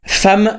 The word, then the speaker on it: femme: Femme ça s'écrit avec un e et ça se prononce avec un a.